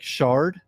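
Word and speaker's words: Schardt: up something happens bro apparently you pronounce shart like Shard I think so I've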